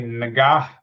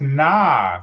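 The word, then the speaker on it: Nga: It's pronounced Na, like yeah na.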